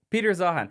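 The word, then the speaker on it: Peter Zeihan: uh and two oceans so as um uh Peter zahan Peter how how you pronounce his name I think you got it Peter zahan as Peter zahan says we're we're I love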